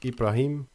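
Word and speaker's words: إبراهيم: In Arabic, they are pronounced as Ibrahim and Shaitan.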